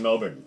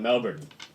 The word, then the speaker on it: Melbourne: down did they called Melbourne Oh Melba that's fine you you Americans always put the emphasis on the second syllable I said it's a